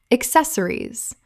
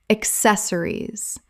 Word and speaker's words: accessories: Word 281, accessories, common mispronunciation, accessories, correct pronunciation, accessories, four syllables with the stress on the second.